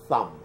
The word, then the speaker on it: thumb: some in English some you pronounce it with a th thumb pinkie this little finger